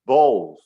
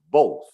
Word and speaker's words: both: Attention to the pronunciation, both. It is O sound, both.